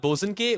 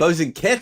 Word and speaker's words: Bosanquet: And he's not even like the most famous Bernard Bosanquet.